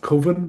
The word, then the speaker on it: Cwfen: And he sent me one the other week called, I think it's pronounced Coven, but it's Cwfen.